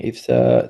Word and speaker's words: IFSA: bring this context regarding ifa there was also I had some doubt regarding how to pronounce ifsa but now I know it's ifa yes that's cool great okay